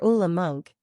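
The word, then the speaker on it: Ole Munch: some surprising Revelations about ol Munch or ulam monk as it's pronounced and finally explained his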